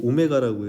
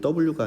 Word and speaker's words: 오메가: W가 아니라 요거 오메가입니다. 오메가. 이게 알파, 베타, 감마, 델타, 오메가 이렇게 되는 겁니다. 그 알파 베타 할 때 거기서 나오는 오메가거든요. 그래서 오메가라고 읽어주시면 돼요. W라고 읽지 마시고, 알겠죠?